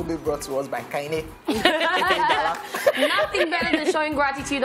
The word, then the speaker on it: Kaine: And Kaine is my middle name. It's called pronounced Kaine. Kaine. Yeah, Kaine.